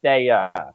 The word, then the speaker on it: Staya: But it's my last name's pronounced Staya. Like if you were to say like, hey, stay away from that guy, you just take the way out from stay away, and it's just stay.